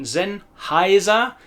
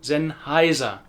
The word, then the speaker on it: Sennheiser: That's why the I-E in Siemens says E, Siemens, and the E-I in Sennheiser is the I sound, Sennheiser, Sennheiser.